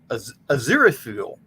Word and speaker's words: Aziraphale: Like Aziraphale. Aziraphale. Not quite Azrael, but close.